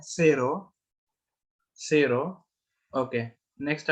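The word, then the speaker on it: cero: जीरो को हम कहते हैं सेरो, सेरो।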